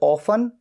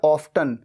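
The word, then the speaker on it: often: लेकिन ये जो एडवर्ब है ऑफन, जिसे ऑफन या ऑफ्टन दोनों तरीके से प्रोनाउंस किया जाता है, ये हमेशा सेंटेंस की जो मेन वर्ब है उससे तुरंत पहले आता है।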